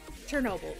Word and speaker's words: Chernobyl: was like the it's been 35 years since shin rebel happened chernobyl sorry i mispronounced it i'm surprised there's no superheroes in